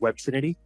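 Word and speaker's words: Web3nity: So the beauty with um web 3 niti, that's how it's spelled uh but it's uh pronounced web trinity.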